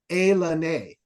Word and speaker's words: Ilani: It's like Washington is all Indian names, but they spell them like Hawaiian names, but they don't pronounce it the same.